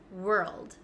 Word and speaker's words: world: them w w again we have an O here but we don't say world and we don't say w we kind of skip over the W and go straight to R so when I make